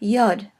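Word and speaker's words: יוד: tough next is the letter Yad it is either pronounced like yeah at the beginning of a word or syllable or it can be part of a vowel a little bit like the way that the Y acts in English and then COFF COFF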